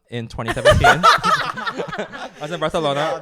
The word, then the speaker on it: Barcelona: I was in Barcelona, and that is how you pronounce it correctly. So whenever Yes, we laugh about that, I'm right. like, that is how like the Catalan people want it to be pronounced.